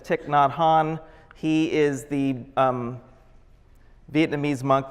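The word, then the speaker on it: Thich Nhat Hanh: is almost unpronounceable but it's tick not Han he is the Vietnamese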